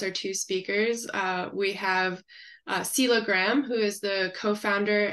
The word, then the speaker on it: Selha: They want to pronounce every letter and it's the H is silent. So it's Selha, like singing.